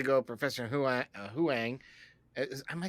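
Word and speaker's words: Huyang: I had to go Professor who I uh Huang am I saying it right Huang Huang yeah um but I really I really thought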